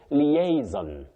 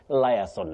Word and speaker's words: liaison: Nyabwari, you say liaison. Liaison, not liaison.